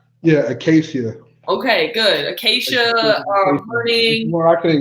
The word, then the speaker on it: Acacia: Acacia? Yeah, Acacia.